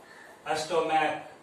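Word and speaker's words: stomach: okay, एक और criteria है, अगर इनका प्रोनाउंसिएशन, CH का प्रोनाउंसिएशन क की तरह होता है, मोनार्क क, अस्टोमैक क, इनका एंड में इस CH का साउंड कैसा है क, इसलिए ये एक्सेप्शन है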